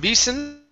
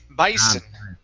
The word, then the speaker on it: bison: here okay the word instead of beason bison bison bison bison okay very nice